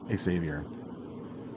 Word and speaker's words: Xavier: And so I found Frater Xavier, as he pronounces it, Frater Xavier, and he seemed to have knowledge about all